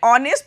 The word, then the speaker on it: honest: आपने ध्यान दिया प्रोनाउंसिएशन में, जब मैंने ऑनेस्ट पढ़ा, इसमें एच साइलेंट होता है, एच को नहीं पढ़ते, ओ से स्टार्ट करते हैं। ऑनेस्ट लिखते HONEST है और बोलते क्या है?